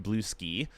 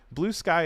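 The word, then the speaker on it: Bluesky: Um Tracy says and it is not pronounced blue ski like I've been saying. What do you mean? How how how have you been calling it blue ski? Blue sky is like it's not a madeup word.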